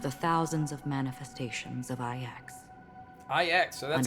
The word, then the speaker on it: IX: One of the thousands of manifestations of IX. IX, so that's how we Under the pronounce watchful it.